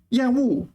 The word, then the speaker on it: 厌恶: 邪恶的恶 is fourth tone. 恶心 is third tone. 恶心恶心 is third tone. And 厌恶 is just a completely different syllable altogether.